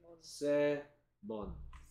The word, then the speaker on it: salmon: L이 소리 안 납니다. Salmon.